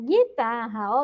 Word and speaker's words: guitarra: Então, ele tem o som do G e a letra U não é pronunciada.